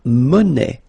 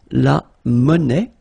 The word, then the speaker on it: monnaie: Then la monnaie. Monnaie, okay, final not pronounced. La monnaie, okay, and it means small change.